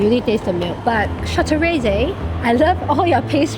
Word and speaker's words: Châteraisé: How do you pronounce this brand? CHA-TUS-STRISE? Thank you! So of course we need to try, like, one of the bigger brands, right? Which is like, “Châteraisé” (proper British pronounciation) Colour, not looking too— too good...